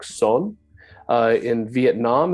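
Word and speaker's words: Seon: just Chon in China in Korea the term is pronounced Something Like Son uh in Vietnam it's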